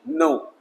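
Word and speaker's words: knee: ई, नो, थोड़ा sound रहेगा इसका के एन का, तो इसे हम पढ़ेंगे नी, है ना।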